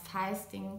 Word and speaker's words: Fisting: Das heißt, wenn irgendwer euch was von Fisting oder Feisting teilweise ausgesprochen oder Fisten erzählt, dann könnt ihr davon ausgehen, dass die Person in irgendeiner Weise Pornoerfahrung, also meistens Pornoschauerfahrung hat.